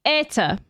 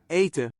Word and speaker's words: eten: I mean, I know I'm arguing with actual Dutch people, but like, look, it's gonna be jullie, jullie eten. Where's the N? Eten.